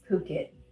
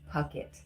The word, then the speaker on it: Phuket: It's Phuket, not, well, I was saying Puckett with a P because I didn't want to say the other.